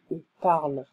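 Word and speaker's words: ils parlent: There's ENT, we don't pronounce the ENT, we just say il parle.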